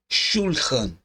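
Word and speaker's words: שֻׁלְחָן: Veja, por exemplo, a palavra shulhan. Shulhan, ela possui duas sílabas que são shul e oan.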